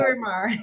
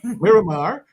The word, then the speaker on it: Miramar: Yeah, you give me the proper pronunciation for that. Miramar. Miramar.